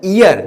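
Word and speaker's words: year: जैसे कि आप देख सकते हो the pronunciation of द ईयर इज नॉट ईयर, this is ईयर, या से होता है। अगर या से होता है तो this comes under the category of consonant sound, that means A will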